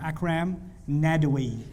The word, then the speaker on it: Akram Nadwi: Akram Nadwi.